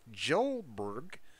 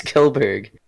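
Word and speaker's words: Kjellberg: filed against Swedish YouTube star Felix Arvid Ulf Jolberg. Damn, what a name! It's Felix Kelberg. Is it? Oh, the J is silent.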